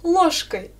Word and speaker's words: ложкой: Я ем суп ложкой. Alors, où est le mot mis à l'instrumental, à ton avis? Oui, c'est ложкой. Ложкой. Répète s'il te plaît, ложкой. Fais attention, j'écris je, mais je prononce ch.